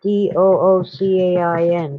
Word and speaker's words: Duquesne: So it would be like Doocain, Duquesne.